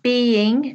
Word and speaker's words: being: was being cleaned so try to make sure when you're pronouncing this being you have the two syllables Bean is one syllable being is two syllables good Okay so we've